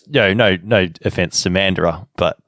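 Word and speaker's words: Mandurah: true it's true and people are going to pronounce that mandira for so long it's not funny well i gonna say is anybody like oh how did how would the americans pronounce it that's gonna be the real problem oh yeah it's very cheap it would definitely be mandura for them i think yeah because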